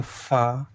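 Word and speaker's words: ف: গইন, এটা ফা। ফা কিন্তু একটু ভালোভাবে পড়বেন, দুটো ঠোঁট মেলাবেন না।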